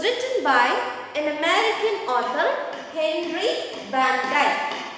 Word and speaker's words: Henry Van Dyke: This story was written by an American author, Henry Van Dyke. Henry Van Dyke. Students, whenever you pronounce any word which begin with the letter V, you should not say it is we.